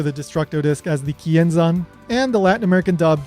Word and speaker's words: Kienzan: Every single one of these clips makes the same exact mistake, and that mistake is that they're pronouncing the z sound in zan as san, like an s sound.